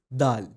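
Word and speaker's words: دال: Next up is dal. To pronounce it correctly, just say the English article da and add al sound to it. It's going to give you dal.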